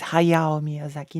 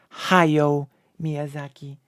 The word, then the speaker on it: Hayao Miyazaki: a butthole as well it's Hayao Miyazaki not hayo Miyazaki learn to read YouTuber